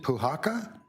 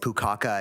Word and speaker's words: Puhaka: I'm finally folks pronounced my name properly and I'm really really happy about that. I get Pukaka and Puka and all sorts of things.